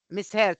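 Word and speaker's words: misheard: said yes miss her when you use the past of here it is pronounced as her Miss he miss heard sorry what he or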